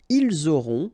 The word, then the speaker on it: ils auront: end here, et, aurez, liaison here, vous aurez, ils auront, final T not pronounced, elles auront.